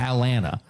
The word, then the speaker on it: Atlanta: You know, and they call it Atlanta. They don't even pronounce the T.